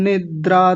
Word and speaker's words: निद्रा: निद्रा, कई लोग बोलते हैं निंद्रा। निंद्रा नहीं होता, निद्रा होता है।